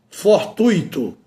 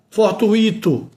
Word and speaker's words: fortuito: A pronúncia é gratuito, a pronúncia é fortuito, a pronúncia é circuito. Então, quando eu pronuncio circuito, está errado, não é? Fortuíito, está errado, gratuito, está errado.